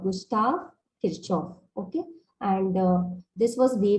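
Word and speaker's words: Gustav Kirchhoff: was first formulated by kirchoff his name is pronounced as gustav kirchoff gustav kirchoff okay and this was way back in 1845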